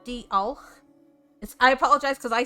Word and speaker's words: diolch: Another one I say a lot here, very easy, is diolch. So diolch is thank you. Diolch. Yes, okay. Diolch. So you use that CH as a ch sound, so it's diolch.